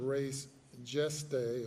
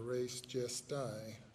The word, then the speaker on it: res gestae: under the theory of res geste or res gestae, as some might pronounce it.